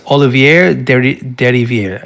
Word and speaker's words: Olivier Derivière: Composed by, I'm going to do my best, Olivier Derivière. It's French. He is French. Yes. I know that much. I believe that is how you pronounce it.